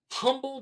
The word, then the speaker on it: Humble: And he's like, it's Humble. I was like, dude. I'm just saying, it spells like another word. H-U is the H is silent.